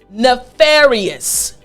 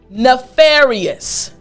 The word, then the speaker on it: nefarious: is nefarious nefarious now I want to help you with the pronunciation so after me again nefarious excellent last time nefarious good front teeth on your bottom lip excellent now the word